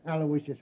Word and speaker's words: Aloysius: Terrence Aloysius Hogan.